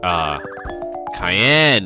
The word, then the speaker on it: Cayenne: My apologies, Miss Cayenne. It's pronounced like the pepper.